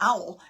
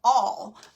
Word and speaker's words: awl: It's not an owl. It's an awl.